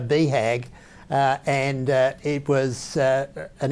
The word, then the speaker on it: BHAG: viewers what that means well it's basically pronounced uh beehag and it was uh